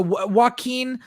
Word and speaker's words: Joaquin: Okay, so Joaquin. It's because it's spelled like Joaquin Phoenix.